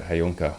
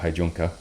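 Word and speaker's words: Heijunka: done is they've simplified hayunke or hey junka depending on how you say it leveling and planning I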